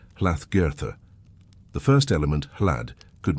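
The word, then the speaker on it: Hlaðgerðr: The most likely old Norse form would have been hagoda, pronounced something like hlath girtha.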